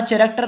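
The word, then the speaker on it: character: द कैरेक्टर, कैरेक्टर कहते हैं चरित्र, ठीक है, ये हमारा कैरेक्टर नहीं है, कैरेक्टर बोलते हैं, यहाँ पर एच हमारा साइलेंट रहता है, बोलना भी सीखिए।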